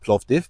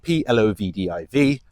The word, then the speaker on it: Plovdiv: It's called Plovdiv, Plovdiv, Plovdiv. A lot of people have trouble with pronunciation of that.